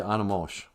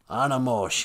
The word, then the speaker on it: animosh: you say dog in ojibwe uh we say animosh animosh yeah well they are not have come on